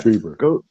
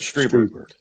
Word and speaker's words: Strieber: Strieber. You speak German. I-E, remember, E is the vowel you want to touch. Strieber.